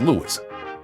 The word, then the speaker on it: Louis: Louis pronounced his own name as Louis. On his 1964 record Hello Dolly, he sings this is Louis Dolly.